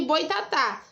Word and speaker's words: boitatá: Só que no boitatá tem acento agudo. Então você já sabe que esse tá aqui, ó, é a sílaba tônica.